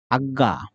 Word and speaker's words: আজ্ঞা: আজ্ঞা এই শব্দটির উচ্চারণ হবে এরকম। আমরা জানি জয় কিছু ২ টা গ ভেঙে হয় এবং কিছুটা নাসিক্য হয় আজ্ঞা।